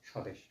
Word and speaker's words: স্বদেশ: এভাবে কিন্তু আমরা উচ্চারণ করি না আমরা ডিরেক্ট উচ্চারণ করি কি স্বদেশ ফলে ব ফলার উচ্চারণটা হয় নাই কারণ কি